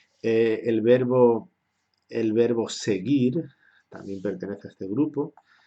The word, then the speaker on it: seguir: Esta U solo se escribe delante de I y delante de E, porque es una U muda como hemos estudiado en fonética.